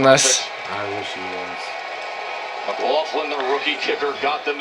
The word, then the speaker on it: McLaughlin: Chase McLaughlin. I wonder if he's related to the Stranger Things star Caleb McLaughlin. Yeah, that's actually how you say it. I thought it was McClassic.